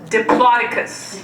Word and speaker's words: Diplodocus: and I quote, "Miss Osrin, I believe that's pronounced Diplodocus."